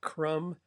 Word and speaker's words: crumb: And in this case you know you can see crumb and crumble. Well, the B in crumb is not pronounced uh but it is in crumble.